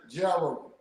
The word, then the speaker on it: Jarrow: okay, it's pronounced like arrow with a J. Jarrow.